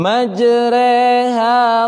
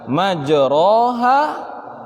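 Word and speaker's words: مجريها: bismillah imager eh wamursahaa Hai majreha Wa mursaha ya bukan majroha wamursahaa insya Allah nanti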